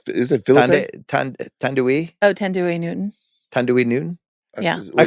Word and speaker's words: Thandiwe Newton: Thandiwe Oh, Thandiwe Newton.